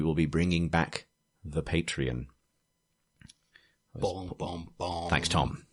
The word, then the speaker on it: Patreon: Because I always used to do it wrong. Patreon. Yeah, well, I always used to get confused because of the tequila brand.